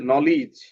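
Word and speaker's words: knowledge: সিতে দাগাবো এখানে আছে নলেজ নলেজ ঠিক আছে নলেজের এখানে খেইটা সাইলেন্ট এইজন্য এটা দেব তারপরে আছে সাটল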